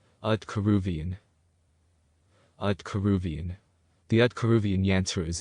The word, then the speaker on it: Aaiyyan: This is the whole yantra, and it is pronounced Aaiyyan.